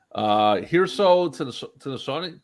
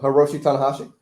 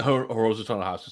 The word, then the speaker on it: Hiroshi Tanahashi: Hirso to the Shawnee. How do you pronounce that? Don't know. Hiroshi Tanahashi. Yeah, Hiroshi Tanahashi.